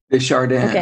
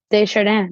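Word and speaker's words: de Chardin: French name and it's I am always worried that I'm saying it wrong but it's uh like Tyle hard tyard Shard see this is great I feel like I should have asked you before so so we're gonna teach everybody how to say it so it's de shardan right de shardan there you go friend um priest amazing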